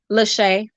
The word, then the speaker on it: Lachey: Lachey. Lachey. Yep, like shea butter.